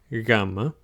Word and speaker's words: gamma: And it's not quite pronounced the same as a G, like in go. It's a bit softer and a bit, I guess, slower to be pronounced. So think of go versus ginome. It comes out slower.